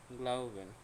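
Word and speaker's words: glauben: গ্লাউবেন, বিশ্বাস করা, ভেঙে উচ্চারণ করলে গ্লাউ বেন, গ্লাউবেন, বিশ্বাস করা, ওকে।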